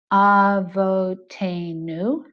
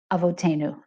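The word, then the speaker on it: אבותינו: An American might normally say, thinking about English syllables, avotenu. A more authentic Israeli accent would say avotenu. And you can hear the avo kind of blurring together.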